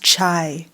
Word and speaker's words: chai: as you're looking at the title half past chai well say K2 you can explain that a